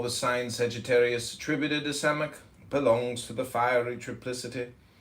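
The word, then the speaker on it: Samekh: Samek, pronounced Samek, transcribed as S, the number 60, meaning prop, support, the intelligence of probation, trial.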